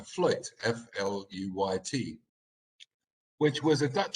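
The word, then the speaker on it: fluyt: But this, for example, this ship here is what is called, I think we pronounce a fluit, F-L-U-Y-T, which was a Dutch ship.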